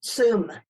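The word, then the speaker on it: Tsum: pronunciations of these names but you said the soon Valley in Nepal is that right if I said that right zoom zoom yep mount kailash kailash kailash in Tibet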